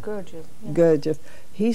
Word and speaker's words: Gurdjieff: how do you pronounce it? Gurdjieff.